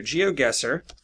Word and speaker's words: GeoGuessr: The name of the game is called Geo, as in geography, and Guessr. It's spelled G-U-E-S-S-R without the E. Okay, so GeoGuessr.